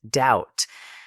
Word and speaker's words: doubt: Silent B words. Comb. Tomb. Debt. Doubt.